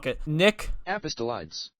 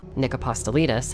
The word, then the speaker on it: Nick Apostolides: Nick Nick Apostolides. Yeah, that's definitely not how you pronounce it. Sphere, could you please? Nick Apostolides.